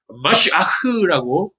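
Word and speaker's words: משיח: 여러분, 메시아라고 하는 이 단어 히브리어로 마시아흐라고 하는 단어예요. 그러니까 마시아흐를 빨리 발음하면 메시아야 이렇게 되는 거죠.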